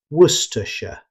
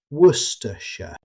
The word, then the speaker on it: Worcestershire: Instead of trying to pronounce every letter, British speakers commonly say Worcestershire. The word is heavily compressed, so Worcestershire.